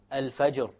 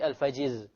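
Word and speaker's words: الفجر: it will be heavy examples are alfajr alfajr we don't say alfajiz alfajr asukr look the Ra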